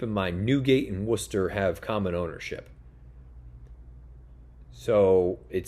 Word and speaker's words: Worcester: nuget is pretty good Worcester and that's how it's pronounced Worcester another bathroom horse um